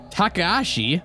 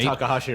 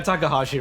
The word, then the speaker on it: Takahashi: found something disturbing apparently Kazuki Takashi I'm hoping I'm pronouncing that right Takahashi right tried to make a new yeah Takahashi right everyone just says Takahashi Takahashi there we go tried to make a